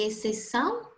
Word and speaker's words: exceção: E aqui, por exemplo, o XC, em exceção, tem apenas um som, que é o som de C. Exceção.